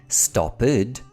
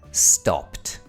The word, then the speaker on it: stopped: It's common for learners to mistakenly use the id pronunciation for words that should end in a t sound. We don't say watched, we say watched. We don't say stopped, we say stopped.